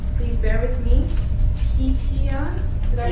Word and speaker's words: Tiyatien: He's also the director and founder of an organization called, please bear with me, Tiyatien. Did I pronounce it? Tiyatien. Tiyatien, yep, that's right.